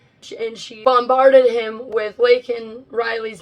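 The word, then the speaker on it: Laken: he came in and she bombarded him with lak Riley's name and even handed him a pin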